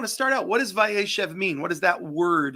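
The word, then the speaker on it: Vayeshev: Parsha this week and um Rabbi is it pronounced via Chev caused by airship so kind of a slight Accent on the second symbol correct correct and Rabbi I just want to start out what does vaishev mean what does that word literally mean so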